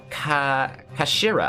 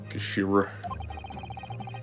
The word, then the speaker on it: Kashira: It's written as head in Japanese, but it's pronounced as Kashira, I believe. Kashira.